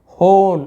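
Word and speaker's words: hone: होन, तो हम इसे क्या पढ़ रहे हैं, हॉर्न नहीं पढ़ रहे, हम इसे होन ऐसे पढ़े।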